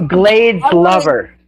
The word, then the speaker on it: Glades Lover: It's Glades Lover. Okay. Glades lover. Sorry. I Okay, now I know. Uh, it is pronounced Glades Lover. Like Everglades.